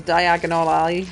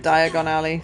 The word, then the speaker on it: Diagon Alley: based on preset locations it says diagonal alley or whatever instead of Diagon Alley scary spooky place which